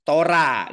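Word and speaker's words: Torah: Ta dalam bahasa ibraninya Kalau bahasa Ibrani hanya itu tidak dibaca ya jadi Tora gitu ya tidak diucapkan tidak keluar bunyinya huruf H kalau ada di akhir sebuah kata Jadi mereka menyebutnya Tora gitu ya atau kalau Sarah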